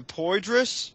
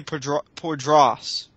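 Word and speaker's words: Poydras: But And- there are some things we don't pronounce correctly, like poidrus. I think it's supposed to be poidras, but what What is draws?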